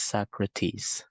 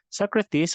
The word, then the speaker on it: Socrates: or Socrates so I have included here the pronunciation of the name it's Socrates Socrates is one of the influential philosophers in Western